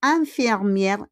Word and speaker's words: infirmières: Elles sont infirmières. IN is un. Parce que IN comme graphème, we pronounce it as un.